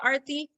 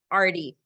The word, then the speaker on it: Arthi: certain name art Arty what would a western person call arthi Artie what rhymes with Artie